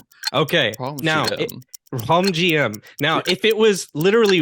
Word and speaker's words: Rhum J.M: you say how does how does it gets pronounced well with my congested nose it's gonna be easier home GM okay now home GM now if it was literally rum GM as